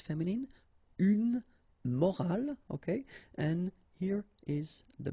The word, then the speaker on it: morale: but in that case you've got this e at the end, which is silent, so you don't pronounce it. So clearly it is the same pronunciation for the two words, but then in that case it's feminine, une morale, okay?